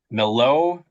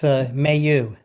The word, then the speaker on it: Millot: Also, as part of your testimony, you included an exhibit that we've been calling the Millot report. Are we pronouncing that correctly? You're not. It's Mayu.